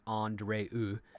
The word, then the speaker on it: Andrea: Yeah, other character named Andrea, who it's best pronounced Andreu.